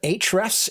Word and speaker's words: Ahrefs: so this is a tool called ahrefs we pronounce it hrefs in the industry this just a tool